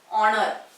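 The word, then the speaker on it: honour: आणखी एक शब्द घेते मी ऑनर. काय ऑनर. तर ऑनर पूर्वी सुद्धा काय येतं ऑनरचं सुद्धा उच्चारण कसं होतं, सॉरी, उच्चारण ऑनर असं होतं, ऑनर.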